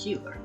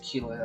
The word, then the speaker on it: Keeler: And he gives him a gift from Euphrates Keeler. I hate saying it that way, because it's spelled that way, but it sounds like Keeler. It sounds like K-I-L-A, not K-E-E-L-E-R.